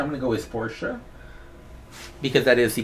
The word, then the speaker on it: Porsche: pronunciations for Portia there's Portia which is the official German pronunciation and there's Porsche which is like normal American pronunciation I'm gonna go is Porsche because that is the